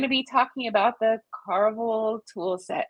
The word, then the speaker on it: Carvel: the Carval tool set did I say that correctly Carvel yeah yeah it's definitely as far as her pronounced properly turned and I think if you say Carvel you know like that's still cool with me they're a couple different